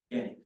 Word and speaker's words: Gannick: Gannick, G-A-N-N-I-C.